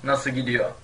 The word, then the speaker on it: nasıl gidiyor: By the way, nasıl gidiyor also is usually pronounced without the final letters, so it becomes nasıl gidiyor.